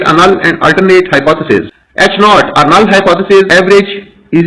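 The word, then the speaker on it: H₀: symbol for it and it is pronounced as h naught the alternative hypothesis is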